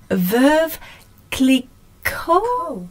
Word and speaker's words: Veuve Clicquot: French, and we all know how I cannot pronounce anything. So it's Veuve Clicquot.